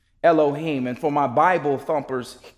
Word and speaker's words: Elohim: and the word for God here would be pronounced Elohim Elohim and for my bible thumpers in here you